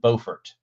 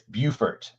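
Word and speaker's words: Beaufort: had somebody there and on the news pronounce it bfort and I'm like that's not how you pronounce it it's bufort bufor that was in the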